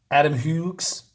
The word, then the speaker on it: Adam Hughes: This is by Adam Hughes, that's how you say it.